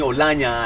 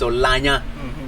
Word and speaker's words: Olanya: cultural fights yeah so don't call me olania and all that it's olanya yeah so when i'm